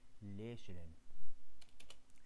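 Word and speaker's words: lächeln: لا هكذا ليشلن، ليشلن إذا كانت آ فتنطق لا، فهذا ينطق ليشلن.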